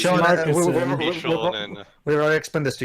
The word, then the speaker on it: Marcassin: That's It's kind of pronounced Shonen, Marcusson.